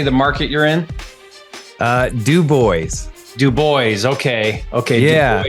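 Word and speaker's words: DuBois: Now, I know I'll butcher the name, but how do you say the market you're in? Du Bois.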